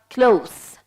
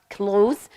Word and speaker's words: close: adjective it's pronounced as close close and it means near but when it's a verb when it's a verb it's pronounced as clothes and it's uh it